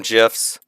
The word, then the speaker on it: GIF: Google slides and yes I call them gifs because that's what the Creator calls them and it just makes sense to me if you don't like if you want to use a hard G on it then I want you